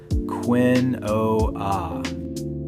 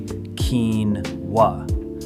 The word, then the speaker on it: quinoa: Every single instinct in your brain wants to say quinoa. Totally reasonable guess. But it's actually quinoa. 2 syllables, and it comes from Quechua, an indigenous language from South America.